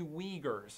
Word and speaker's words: Uyghur: today's world is the Uyghurs, and that's a tough one to say and spell because they don't look alike It's U-Y-G-H-U-R, Uyghur or pronounced like a W.